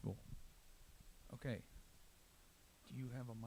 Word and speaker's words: Vol: Told it's pronounced vol.